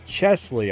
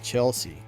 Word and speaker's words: Chesley: wrong the whole time it's it's Chesley I keep saying Chelsea Chesley Brooks I apologize